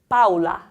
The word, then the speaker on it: Paula: The AO combination sounds like au, Paula.